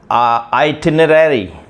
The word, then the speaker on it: itinerary: So number first is itinerary. Itinerary. Itinerary. So until now, a while back, I was really pronouncing it itinerary, and this was wrong way of pronouncing this word.